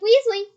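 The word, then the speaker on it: Weezly: e z l y it sounds like Weasley but it sure isn't spelled the same it's funny though couldn't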